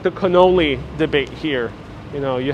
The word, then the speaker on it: cannoli: uh it's like the cannoli debate here you know you have a cannoli here in new york it's cannoli ain't canola we're in new york we're